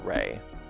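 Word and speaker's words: Rhea: had been a healer i'm going to pronounce that right ray r-h-e-a i'm gonna go with rey he'd been raised by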